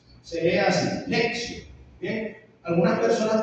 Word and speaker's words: lectio: en latín lección divina en ese idioma la t con la i se pronuncia como una s bien Es como si dijéramos lexio se lee así lexio bien algunas personas pronuncian